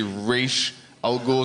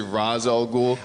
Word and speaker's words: Ra's al Ghul: say Raish al Ghul, some people say Raz al Ghul. I hate that stuff. It's fucking annoying. I just like fuck off. You know? They should spell it differently if they want you to say it, not like the letters are. That's exactly. Yeah. If it's Raish al Ghul, there's a goddamn H at the end.